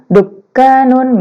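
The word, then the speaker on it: دكان: Kalau ada tasydid dibacanya ditekan. Indi dukkanun gitu.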